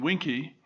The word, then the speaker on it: Vinci: over winky for example which most people pronounce vinci but it's i understand properly the latin uh pronunciation winky usually you play to